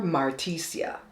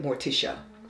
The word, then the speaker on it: Morticia: little baby girl um they call her marticia but it's spelled like Morticia again they're gonna say